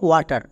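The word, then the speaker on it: water: তাহলে আরেকটি এক্সাম্পল দেখো, যেমন ওয়াটার। এখানে ডব্লু কি সাইলেন্ট? এর পরে কে আছে? এ। এখানে কিন্তু আর নেই, তার মানে এই ওয়ার্ডে ডব্লু সাইলেন্ট থাকবে না।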